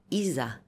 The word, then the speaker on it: إيزيس: دي يعني ست الستات اسمها ايزا او الست السين اللي في الاخر دي ده النطق اليوناني لا اسميهم مش النطق المصري يعني يعني مصر مثلا